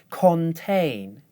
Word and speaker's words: contain: Contain, contain. As you can hear, when I do it the wrong way, I use the vowel sound o in the first syllable. When I do it the right way, I use the schwa.